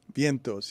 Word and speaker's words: Vientos: post Major League hit am I saying Vientos Vientos yes it's it's a in Spanish it's a